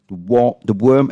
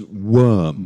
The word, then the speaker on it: worm: So the difference is between the worm and the warm. Yeah, this is pronounced worm. Worm. Worm. Even though it looks like warm, but it's pronounced worm, actually.